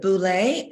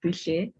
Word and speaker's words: Boucher: Is it Boulay? And I apologize if I'm pronouncing that incorrectly. Good. Well, it's afternoon this side. It's pronounced Boucher.